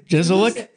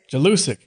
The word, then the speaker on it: Jelusic: Well, Dino, how do you pronounce his last name? Jelusic. Jelusic.